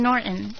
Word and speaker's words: Norton: Jim Norton. Okay, see, that's right. You have like the sound in Norton. You don't hard the T.